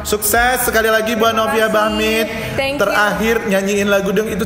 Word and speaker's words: Bachmid: Tapi dia pelafalannya beda, Bahmit. Cuman tulisannya Bahmit gitu. Oke, buat kalian semua jangan lupa like, share, subscribe-nya dan di komen ya.